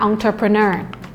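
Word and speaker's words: entrepreneur: อีก คำนึง นะ คะ คำ นี้ หลาย ๆ คน ออก เสียง ผิด ค่อน ข้าง บ่อย นะ คะ คำ ว่า ผู้ ประกอบ การ ใน ภาษา อังกฤษ ใช้ คำ ว่า เอา เธอ เธอ นะ คะ อองเทอเพอเนอ เอ้อ การ ลง ทุน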